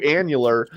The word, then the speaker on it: annular: transition from Total to annular um and the emphasis by the way is on the first syllable as far as I know um uh from Total